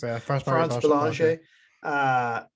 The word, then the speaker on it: France Bélanger: Is that how you France pronounce it? Bélanger, yeah. France Bélanger.